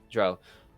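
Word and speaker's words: drow: by an evil dra dro as it's pronounced in this one dro uh to destroy it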